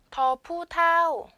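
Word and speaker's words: ฒ ผู้เฒ่า: 그 다음 밑에 자음 보시면 더푸타오, 더푸타오, 더푸타오. 평성, 이성으로 발음이 되고요.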